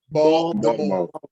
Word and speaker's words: Baltimore: You gotta say it like that with the D in it. Baltimore.